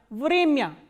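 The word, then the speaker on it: время: Vremya. Vremya is time. So, here this ya is coming in an unstressed position, that is why it is pronounced as ya, not ya. Vremya.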